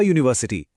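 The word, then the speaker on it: university: देखिए यूनिवर्सिटी की स्पेलिंग तो यू से शुरू होती है जो एक वोवेल है। लेकिन उसकी आवाज यू की है जो एक कंसोनेंट साउंड है। इसीलिए हम कहते हैं अ यूनिवर्सिटी। वहीं आर में एच साइलेंट है।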